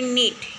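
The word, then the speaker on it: gnat: यहाँ पे हमें यहाँ पे नेट, फर्स्ट यहाँ पे देखा है नेट जिसमें जी साइलेंट है, वैसे ही हमें दूसरे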